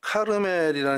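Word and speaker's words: כרמל: 사건이 아닌가 싶습니다 어 갈멜이라는 뜻은요 카르멜이 히브리 발음으로 카르멜 이게 이제 보통 명사 같아서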